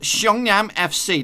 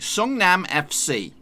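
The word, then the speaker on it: Seongnam FC: tricky one it is young yam FC Nass how I do it normally strong now I may do a bit of a butcher there but this is how you put it supposed to say it yong-nam FC sung-nam FC say with me son am FC and if you can't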